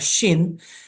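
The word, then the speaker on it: שין: It's called a Shin. However, it would be read differently according to what dot is on top on its head. So when there is a dot on the right, then that would be pronounced as sh, the shin. Okay. And if there is a letter on the left side, and that would be a sin.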